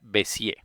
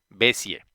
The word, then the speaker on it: Bézier: Pero bueno, el caso es que la pronunciación viene del francés y en francés las palabras todas son agudas y cuando terminan en R no se pronuncia la R, por lo tanto se pronuncia Bézier.